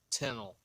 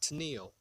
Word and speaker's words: Tennille: Uh, Let me say it correctly. How far are you from Tennille, Georgia? Not Tennille. K&B gets pissed when you call it Tennille.